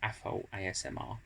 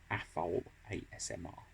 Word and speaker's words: Afol ASMR: Well, most of you, if you've found my channel, will probably know me as Afol ASMR. That's how it's pronounced. It's spelt AFOL-SMR, but it's pronounced Afol ASMR.